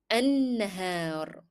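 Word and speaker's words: النهار: Notice that we are again not pronouncing lam in the definite article L because it is followed by a shadda letter. And I stressed on noon as if there were two noons here.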